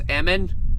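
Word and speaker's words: Ehman: the WoW signal about his last name being pronounced Amon or Eman I think it was Edmond someone is someone has sent me the thing apparently was Eman I guess that makes way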